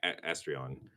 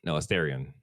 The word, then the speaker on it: Asterion: Okay, yeah, Astrion. No, Asterion. That's how you pronounce that name.